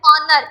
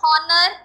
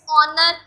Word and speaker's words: honor: जैसे word honest है, यहाँ पे वर्ड मैंने प्रोनाउंसिएट किया है ऑनर, इट्स नॉट हॉनर, इट्स ऑनर। H silent है, ओ प्रोनाउंसिएशन देगा अपनी।